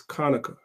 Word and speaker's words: Hanukkah: chapter 7 verse 9 the word there is Konica which is how you say Hanukkah that's why